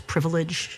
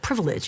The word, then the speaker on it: privilege: I admire the way Joyce pronounces privilege she hits all three syllables I kind of like you know cram it into two but privilege it sounds very melodious